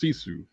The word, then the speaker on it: Sisu: Okay, wait, great says it's pronounced Sisu.